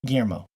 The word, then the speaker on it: Guillermo: Gilliam how do you guys say Guillermo gyo Guillermo okay thank you si Collier um oh yeah